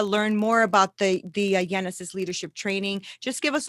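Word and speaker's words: Yenesis: on social media learn more about the the genesis leadership training just give us all of your um social media and stuff handles please definitely thank you nina you're so good thank you genesis the word genesis is like the bible word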